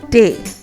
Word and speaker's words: D: And then we have D, which is day. We pronounce it as if we're pronouncing day, but it's a little different.